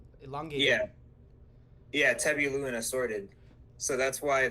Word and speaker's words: Tebillus: like the thing is that the username or like the alias Yeah, is actually pronounced Tebilu. It's Tebilu. like sort of like a verlan. It's kind of like a type of French that's like illustration de